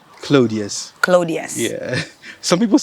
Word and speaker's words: Claudius: How do you pronounce the last name? Claudius.